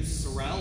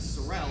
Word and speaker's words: Sorrell: statement all right well the name is sorelle and we do pronounce it sorrell sorrel is a red horse but my grandfather was a preacher in detroit and the yankees pronounced it sorel and he couldn't get away from it so